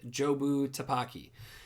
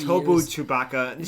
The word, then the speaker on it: Jobu Tupaki: who we know is called Jobu Tupaki. And it's a weird name, and it's actually pretty funny because throughout the whole movie, Evelyn pronounces it wrong. Yeah, she calls it like something Chewbacca, Taki. Tobu Chewbacca. She butchers a lot of names.